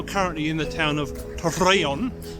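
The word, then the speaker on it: Torreón: in the town of Torreon. You have to roll your R's. We're in the town of Torreon.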